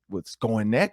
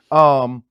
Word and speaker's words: Skowronek: Like, look, nobody's going to go with Skonek or whatever, how you say his name, Ben. Skowronek.